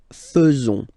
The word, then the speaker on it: faisons: So it's quite strange because French people tend to pronounce faisons. Okay, so like here, this AE is not pronounced like normally we should pronounce it like e, but then like e. Okay, nous faisons.